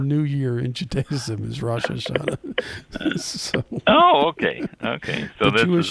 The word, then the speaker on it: Rosh Hashanah: And today is first day of Rosh Hashanah, is how it's pronounced.